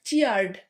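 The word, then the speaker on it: cheered: এরপর চিয়ার্ড, চিয়ার্ডও তেমনি একবারে উচ্চারণ হবে, সেখানে এখন এই সিলাবিক ডিভিশন নেই।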